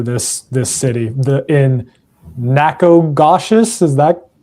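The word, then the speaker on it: Nacogdoches: Austin is I'm gonna butcher this this city the in Nakogoshious. Is that pronounced? How do how do you pronounce that? It's necadosious. Necadocious.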